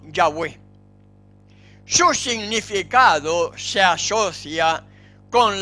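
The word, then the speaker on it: Yahweh: acuerdo general de que la pronunciación original debe haber sido yagüe su significado se asocia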